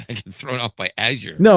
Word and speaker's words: Azure: And now it may have something to do with Azour or Azure, however the hell you're supposed to pronounce it. Uh, it's actually Azure. Aure. Okay. Azure.